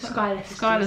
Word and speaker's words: Schuyler: It's really Schuyler sisters. Schuyler sisters. But it's spelled really weird.